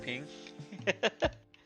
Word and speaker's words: PNG: a ping Mr ping anyone say it like that I say it like that everyone always like why do you say that I'm like sorry I know it's a little weird ping file I know it's PNG but just sounds better saying